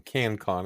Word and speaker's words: KantCon: the positive instead of being can con it's it's k a n t Co n so I guess I